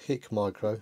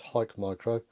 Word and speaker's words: HIKMICRO: There's a silent E in here for us English speakers. It's not HIKMICRO, it's HIKMICRO. They are a huge company